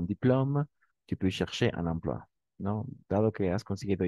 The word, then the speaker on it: emploi: OI, toujours quoi? Donc, un emploi. Emploi. OK, merci. Tu peux chercher un emploi. Étant donné que tu as eu ton diplôme, tu peux chercher un emploi.